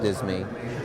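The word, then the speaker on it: disme: So for example, in the collection is the 1792 half Dean, sometimes pronounced half Disney, that's graded MS68, the single finest known 1792 half Disney.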